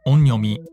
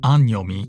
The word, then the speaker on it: 音読み: or Roman characters, and saw the letters O N and thought they were pronounced like the English word an.